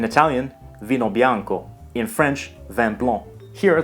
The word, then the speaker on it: vin blanc: vino Bianco in French van blown here the final C is silent so the last sound